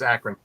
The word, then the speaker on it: Akron: It's like the city. I don't know the city. It's in Okay. It's in Ohio. Oh, Yep, it's Akron.